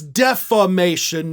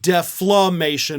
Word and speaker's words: defamation: This is defamation, not deflamation or deflamation, whatever it is you're saying. That's not a thing. This is actually defamation.